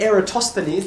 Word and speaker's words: Eratosthenes: go through and you do the sieve of eratosthenes that's how you pronounce it by the way see the i